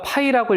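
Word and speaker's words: ∅: 그리고 공집합은 요렇게 표시를 하고 읽을 때는 우리가 파이라고 읽어 주면 돼.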